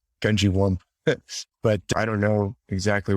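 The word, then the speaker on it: Gungywamp: And the way I heard people pronounce it was Gungewamp, like Gungewamp.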